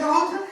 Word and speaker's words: wrong: Right सिर्फ हम आर का प्रोनाउंसिएशन कर रहे, रॉन्ग WRONG है ना।